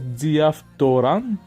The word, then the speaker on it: διαφθοράν: On a dit, on prononce diaptoran.